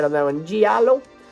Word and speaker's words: giallo: right on that one giallo it sounds like jello and i feel very italian when i say it that way i used to say giallo because well i'm cuban